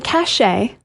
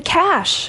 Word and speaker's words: cache: blank on your computer, it's not the cache. It's not cashache. Cashache. Cashache. Cashache. Cashache sounds like a name. Uh, no. It's the cash. Cash. I know extra letters, but it's just the cash.